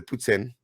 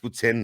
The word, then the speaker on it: poutine: Fun fact, Quebec's greatest inventions were the poutine, and it is pronounced poutine, not poutine.